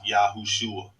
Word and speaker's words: Yahushua: So regardless, if we find the Messiah's name written with 5 letters, his name is still pronounced Yahushua.